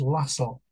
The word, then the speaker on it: Lassell: I just correct myself the true pronunciation of his serame is lassel to um coincide with the N the other word hassle but if you'll forgive